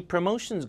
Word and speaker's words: promotions: Promotions. Promotions. 강세 여기.